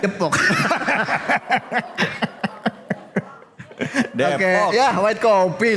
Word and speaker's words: Depok: Daerah Depok, bukan Ya kan ada ejaan EYD, ada E, ada E. Oh, yang benar bacanya? Jadi bacanya? Depok.